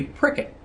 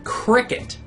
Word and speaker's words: Prickett: have of M Judy pricket first off uh most of the kids that I can remember couldn't properly pronounce her last name and instead of saying pricket a lot of them said Cricket um I always found